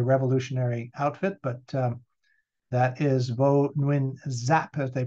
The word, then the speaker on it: Vo Nguyen Giáp: And on the left-hand side, in the tie of all things, not a very revolutionary outfit, but that is Vo Nguyen Giáp, as they pronounce it, who became sort of the military,